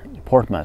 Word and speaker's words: Portsmouth: 您比方说那个英国南边那两个港口城市 Portsmouth 和那个 Plymouth，您听听人家的标准发音 Portsmouth PlymouthPortsmouth, Plymouth。